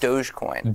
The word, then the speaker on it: Dogecoin: How is that pronounced? Dogecoin.